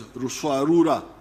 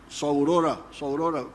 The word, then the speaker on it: Ruswarura: There was a notorious chief in Buzinza, known as what I came to understand as Ruswarura. When you read, I think it is Speak, Understand, they write Saurora, but they were mispronouncing the name.